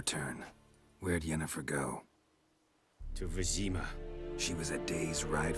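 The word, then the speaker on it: Vesemir: And I know I've been calling him Vesimir, that's my I can't remember if that was my limited exposure to French or Spanish that causes me to pronounce my V's like a B.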